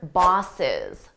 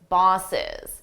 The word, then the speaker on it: boss is: Notice how boss is, we say it as one word, bosses, bosses. It's the exact same pronunciation as the plural form of the noun bosses.